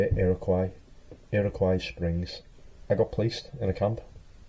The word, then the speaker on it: Iroquois Springs: As well, I can't say it properly. Iroquois Springs. I think that's how you say it. Iroquois Springs.